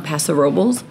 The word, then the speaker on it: Paso Robles: And then we headed out to downtown Paso Robles and dinner at La Cosecha Bar and Restaurant.